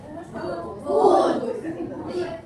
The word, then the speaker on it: would: Would. That's a silent L.